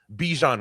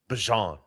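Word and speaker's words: Bijan: Now, last year, Bejan Robinson told everyone his name is Bjon Robinson.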